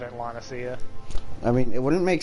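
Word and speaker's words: La Noscea: I don't know why, but I've been calling Lanacia Lanoska. I mean, it could be. I don't think I've heard anyone in the game pronounce it. It's Lanacia because I've heard whatever the leader of Limsa is pronounce it in one of the earlier cutscenes.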